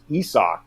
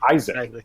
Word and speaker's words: Isaac: we all learn that bonga's first name is pronounced esoc and not isaac and literally no nobody